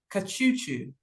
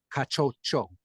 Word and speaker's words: Kachocho: Kachuchu. How did I do with the pronunciation, Doctor? All right. So you were excellent up until the last name, and it's just one difference. It's Kachocho. Kachocho.